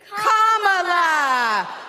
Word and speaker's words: Kamala: do you pronounce it first you say comma like a comma in a sentence then you say la like la la la la la put it together and it's 1 2 3 Comm La all right so let's